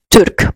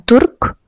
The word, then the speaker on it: Türk: Begitu juga ketika menyebutkan Turk, bukan Turk.